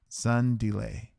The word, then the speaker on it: Zundile: My name is and pronounced Zundile.